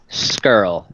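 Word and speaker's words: Scurll: like I don't even I understand SCR it's like scrub skirl not that hard there you go jr.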